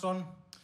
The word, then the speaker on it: Hugleikur: a trick to it my name hon sounds exactly like the chorus to the song Who Let the Dogs Out so you can imagine